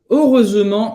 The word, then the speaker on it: heureusement: Então ele falou aqui, heureusement, olha como esta palavra é difícil de pronunciar. Vamos lá. Heureusement, muito Como fazer esse Esse você vai fazer a boca do O e vai falar E.